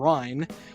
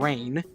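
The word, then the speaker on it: Reyn: is just outright incorrect they mispronounce two of the main party members um dunban and Ry saying Duncan and Rain even though they pronounce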